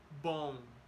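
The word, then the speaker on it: bom: it's not quite right so bone bone okay keep in mind if you if your mouth closed if your tongue touched anywhere on the upper part of your mouth it is wrong the second word Gia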